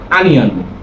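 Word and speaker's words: onion: পেঁয়াজ মানে অনিয়ন যেটা আমরা বলে থাকি, আসলে অনিয়ন হবে না, সেটার উচ্চারণ হবে আনিয়ন।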